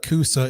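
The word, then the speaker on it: C-USA: It's now and so we've been saying Coosa all along anyway. Correct. But now you spell it Coosa instead of C-U-S-A.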